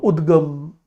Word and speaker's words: UDGAM: so it is also the pronunciation is also uh udgam many many of the I would say news channels I have seen they use the word udgam but my question is what